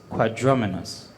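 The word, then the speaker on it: quadrumanous: quadrumenas it's an adjective is there any alternate pronunciation for quadruminus what i have here is quadraminus quadraminus methods are the definition of quadraminus it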